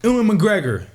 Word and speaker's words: Ewan McGregor: Especially y'all little lover boy, y'all golden boy, Ewan McGregor.